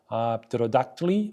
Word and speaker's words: pterodactyl: In words like pterodactyly or ptontely, English speakers normally do not pronounce the P because PET is not a sound combination that can occur at the beginning of English words.